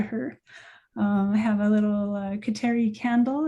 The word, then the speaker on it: Kateri: I've been taught that in Mohawk pronunciation, we would say Gatali to Gatawita. I say Kateri, because that's how I grew up hearing about her, and that's how I talk to her.